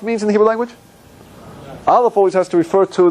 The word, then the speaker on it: Aleph: Silent. Aleph is the only letter in the Hebrew alphabet. There's no sound. You have to give it a vowel in order to sound it out.